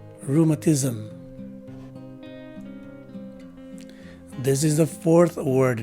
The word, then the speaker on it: rheumatism: we usually do as in zim with the swa sounding e in the middle so the right way to say this word is rheumatism again rheumatism this is the fourth